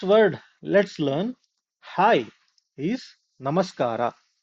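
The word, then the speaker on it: ನಮಸ್ಕಾರ: The first word let's learn, hi, is namaskara. Namaskara.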